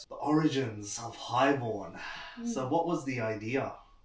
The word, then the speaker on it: HIGHXBORN: I know it reads as High Xorn, but it's actually pronounced Highborn.